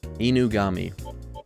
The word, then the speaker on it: Inugami: Is it Inagami or Inagumi? Inagami? Inugami. I should just default to how it looks phonetically before any other assumption. Yeah, Inugami.